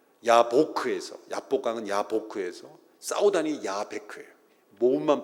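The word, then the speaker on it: יַבֹּק: 야곱이 야복강에서 씨름을 했다라는 말 히브리어로 발음하면 야곱은 야코브입니다. 야보크에서, 야복강은 야보크에서, 싸우다니 야베크예요.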